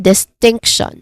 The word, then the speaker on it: distinction: So this is, again, distinction. Second syllable is stressed.